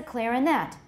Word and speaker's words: clarinet: The stress is on the first or the third syllable, depending on the position of the other stresses in the sentence.Similar shifts occur in phrases